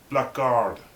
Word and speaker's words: blackguard: Blackguard, actually. This word is pronounced blackguard, an unprincipled, contemptible person.